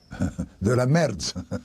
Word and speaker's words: merde: How do you say shit in French? Chic. Shit. Like crap, rubbish. Ah. Oh. De la merde. How do you spell that? M-E-R-D-E. M-A-R-D-E.